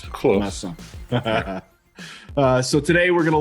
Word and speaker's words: Masan: that you live in because I can never pronounce it properly. I just say Korea. Yeah, I'm in Masan.